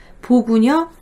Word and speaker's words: 보구녀: 그래서 이게 사실 보구녀 플러스 관 이거기 때문에 두음법칙을 하면 안 돼요. 근데 요즘에는 그때 당시 신문 기사에도 보구녀관이라고 써 있는데 요즘에는 그냥 보구녀관이 발음이 어렵다 해서 요즘엔 그냥 보구여관이라고 말을 합니다.